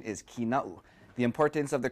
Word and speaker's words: Kīnaʻu: A lot of the times the name is mispronounced as Kīnaʻu or Kīnaʻu, but the appropriate pronunciation is Kīna'u.